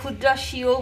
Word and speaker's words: ক্ষুদ্রাশ্মীয়: তো এটা ক্ষুদ্রাশীয় বলে, কিন্তু অ্যাকচুয়ালি তালিবস্বয়ের নিচে যে মটা রয়েছে, ময়ের উচ্চারণটা হয় না।